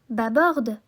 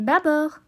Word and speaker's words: bâbord: le mob à bord on ne dit pas bah board mais bâbord mais si on n'entend